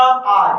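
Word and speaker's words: hour: आर। कई लोग इसको आवर पढ़ते हैं, आवर नहीं है, क्या है? आर। अब यहां देखेंगे कि एच साइलेंट है, क्या है?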